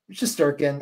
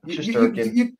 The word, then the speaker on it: Shesterkin: And did I even say it correctly? Shesterkin. I mean, yeah. Shesterkin. I feel like you said it more probably Russian accurate. Like, you really said it like I would say it in Russia.